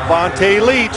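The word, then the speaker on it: Vonta Leach: Vontae Leach.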